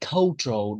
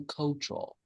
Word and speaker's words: cultural: And this one we say cultural, not not cow, right? Co cultural.